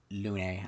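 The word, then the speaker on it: Lune: I mean, other than we could get into Is it Lon or Lun? Oh, sorry. It It is Lun, I believe, is how they pronounce it.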